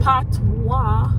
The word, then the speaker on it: Patois: Patois. Patois or Patois? That's how you pronounce it.